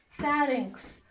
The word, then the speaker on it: pharynx: I found some difficulty pronouncing the word, so I wrote myself a note how to pronounce it. It's pharynx.